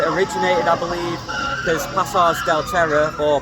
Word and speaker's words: Pasaje del Terror: originated, I believe, because Pasaje Del Terror, or Pasaje Del Terror, as I think it's pronounced officially, is actually Passage of Terror in Spanish.